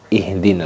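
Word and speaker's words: اهدنا: Hati-hati kita ketika membacanya ihdina. Terlalu ada ngoroknya itu malah larinya ke kho ini gitu. Terlalu tipis kita malah larinya ke ha, ihdina. Nah, itu keliru. Jadi ihdina letaknya di bagian tengah, bagian pangkal tenggorokan, aqsal halqi, ihdina.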